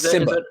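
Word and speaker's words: Nsimba: It's Simba. Simba Webster. It's Simba. Yeah. Simba Webster. Cool. Like Lion King.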